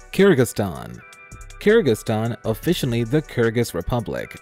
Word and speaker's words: Kyrgyzstan: and immediately thought wait what i can't even pronounce its name before you ask it's kyrgyzstan believe it or not it's easy to see